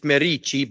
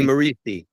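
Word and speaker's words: Merici: Angela, uh is it pronounced Marici or Maurici? Well, it's in Italy it's Marichi, but we say Marici.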